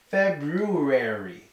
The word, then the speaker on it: February: just say February but the R should be pronounced it should be February February but that's hard